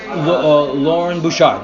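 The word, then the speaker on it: Loren Bouchard: So you work with, I've never heard his name said, but I'm hopefully pronounce it right, Lauren Bouchard? Lauren Bouchard, yeah.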